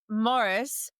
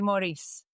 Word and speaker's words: Morrice: And we were just talking about how your last name is spelled this beautiful way, Morrice. And but it is pronounced Morris because of the fact that you're Scottish, right? Yeah. But if it was anywhere else, it would be Maurice.